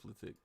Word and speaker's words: Reflekt: This plugin right here is called Mouthing Off, and it's by reflekt, I guess is how you say it, reflekt.